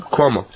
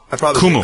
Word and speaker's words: Cuomo: Kumu.